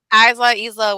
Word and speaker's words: Isla: I don't think I paid attention too much to Alba or Isla Dawn. That's how you pronounce her name. Isla, whatever.